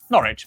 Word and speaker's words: Norwich: W at the start of the final syllable is silent. Norwich, Berwick.